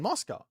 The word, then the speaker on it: Mosca: Is it like most most moose mouse moo musa? It's like moss. Well, I'm saying it right then. Mosca.